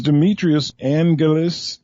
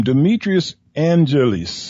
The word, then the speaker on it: Demetrios Angelis: You have a Greek name, Demetrios Angelis, I think it is the way it's pronounced. Right.